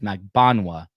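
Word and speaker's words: Magbanua: Magan by the way her name is mag ban that's how you pronounce it um and he bumps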